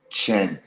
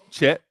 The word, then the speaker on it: Chet: Well, I am totally surprised about OKC, especially the young man who they call Chen. Uh, if I did I pronounce his name right, Chen Holmgren? Chet, Yeah, he is doing remarkable things right now.